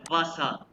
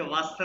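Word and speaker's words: Wasser: वासा अच्छा ये वास इसको वास नहीं कहना जब इसको प्रोनाउंस करते हैं वासा वासा वाटर वासा वासा वाटर ठीक है वासा नहीं मैं इसलिए कह रहा हूं कि जर्मन वाले इसको वासा उसे वासर नहीं कहते ठीक हैसा वासा वाटर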